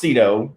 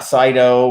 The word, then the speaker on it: CITO: trash out yeah um it's pronounced sedo if you hear it any other way kids because they're all wrong um not cyto or kaido or whatever i don't know there's